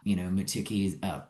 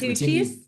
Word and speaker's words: Matucci's: I know that you guys visited the Hotel Zaz, Matuki's pronounced that correctly. Someone help me here. It's Matucci's? Oh, Matucci's Matucci's, yeah.